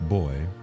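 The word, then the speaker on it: buoys: b-u-o-y-s let's see so it's just pronounced boy an end could flow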